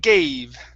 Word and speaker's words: gave: gave this here is going to be a long a sound okay instead of it's gay gave gabe there you go that's